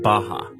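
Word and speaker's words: Barra: is a place Called baha RS are pronounced like H in portugese this is a new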